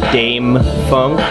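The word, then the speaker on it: Dâm-Funk: about an album by an artist known as Dame Funk there is an accents on the a so it's pronounced Dame the name of his album is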